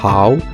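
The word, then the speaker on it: 好: peu plus de problèmes tout d'abord en chinois le h1 pas silencieux et se prononcent de façon aspirer et gutturale en ouvrant bien dans l'amour la sonorité est assez proche du r en france et ensuite ne séparait pas le a et le beau la transition doit être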